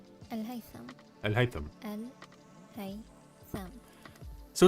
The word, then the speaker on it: Al-Haytham: This one here is what we say Al-Haytham, we say, but it's actually Al-Haytham.